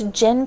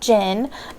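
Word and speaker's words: Djinn: right, and this is Dhinn Patrol on the Purple Line, and this is by Deepa Anappara, I believe is how you say that, but I did look up Dhinn, and the D is silent, and this is actually a newer book.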